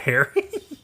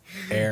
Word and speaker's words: heir: Eventually, male heir, Marco- not hair. heir. You don't pronounce the H Eventually has a son, and that pretty much gets Luca ignored, and the baby's made the heir instead.